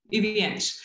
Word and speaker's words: Iwianch: interpret a deep respect, even though even in the way describing the relationship that you, sorry, how do you pronounce it? - Iwianch. - Iwianch.